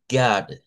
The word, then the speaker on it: God: Good. Good. Bueno, ahí está el problema que no es es el sonido. Esa es la palabra para decir Dios en inglés. Y se dice God.